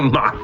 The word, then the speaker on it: mock ball: It's actually M-O-C-K because it mocks your run speed. Even though it would make more sense if it was M-A-C-H, mock is in some